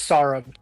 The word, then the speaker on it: Sarab: and uh bring in Sarab. Uh Sarab, first of all, am I pronouncing your front name, your front name? Am I pronouncing your first name correctly? Hey guys. Uh yeah, it's Sarb. Sar.